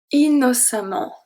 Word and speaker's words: innocemment: Innocemment. Innocemment. Innocemment. So here the C is pronounced as a S. Innocemment. Because it's a E after, so the C turned into a S.